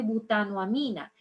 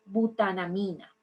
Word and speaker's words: butanamina: una Mina en realidad no se dice butano amina sino butanamina Okay esta butanamina tiene